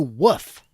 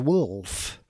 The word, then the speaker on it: Wolf: Okay, I can appreciate that where you're from, many parts of America pronounce wolf as woof. But this man is not a dog, despite his grizzle-bearded appearance. No, he is a man, and his name is Wolf.